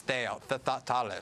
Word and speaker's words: Thales: and then in France, the leading one is Thales, is the French pronunciation, I believe.